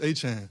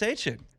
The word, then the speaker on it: Etienne: Growing up, it's Travis Etienne, so it'd be like Achane, and that's how you always said Travis Etienne.